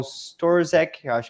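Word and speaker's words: Sztorc: Bitcoin, e o Paul Storzek, creio que esse é assim que se pronuncia o sobrenome dele, que é o inventor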